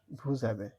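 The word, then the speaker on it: vous avez: সাথে হলে আভে ভু আভে একত্রিত বলার সময় উচ্চারণ হ বুঝাবে ভুজাবে আচ্ছা য এই মানে আই হ্যা দুইটাই ভাল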